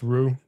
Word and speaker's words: Rux: Rux, pronounced Rue.